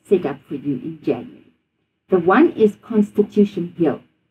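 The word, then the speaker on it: Januarie: In Afrikaans we say January because the J sound is a Y, it's not a J.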